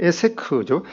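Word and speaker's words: עֵשֶׂק: 그래서 이 우물을 두고 이제 이삭의 종들과 그랄 사람들이 다투었다고 말씀하고, 그래서 그 이름을 이제 이 다툼의 우물이라는 이 여기는 에섹이라는, 원래 발음은 에세크죠.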